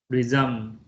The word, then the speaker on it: resume: So the two pronunciation, resume is receiving, resume is a verb that means to start something again. So resume and resume.